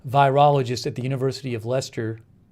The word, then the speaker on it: Leicester: tang a clinical virologist at the university of leicester said i think this is lester how you pronounce that um despite the earlier misgivings about